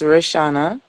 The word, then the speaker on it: Rishana: both the same thing it's pronounced the same way actually it's rishana so my Mom and